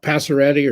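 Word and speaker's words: Pacioretty: And Max, how do you pronounce it? Passaretti or something? Isn't that how you say it? Passaretti, yeah.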